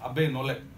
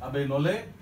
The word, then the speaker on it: Abbé Nollet: Another person who influenced him was a Catholic bishop called Abbé Nollet. T is silent, I guess, in French. Abbé Nollet was an extraordinary experimenter